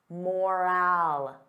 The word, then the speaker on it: moral: Now compare that to moral, moral. The sound is less stressed. I don't open my mouth as wide.